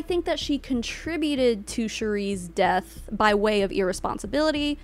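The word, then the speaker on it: Sheree: for This Woman's death her name was Cherie by the way it might be Sherry it's spelled s-h-e-r-e-e so I'm saying Cherie anyway I think there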